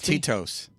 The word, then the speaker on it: Tito's: you say it like titos titos I don't know isn't that how it's pronounced I'll go get the bottle you tell me Tito's Tito's oh Cheetos yeah like uh second syllable really hard is the orange juice